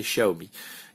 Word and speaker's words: Xiaomi: moi c'est servi mais normalement la vraie prononciation c'est xiaomi peut-être qu'un jour j'aimerais